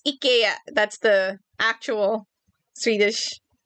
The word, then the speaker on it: IKEA: IKEA has food, yes.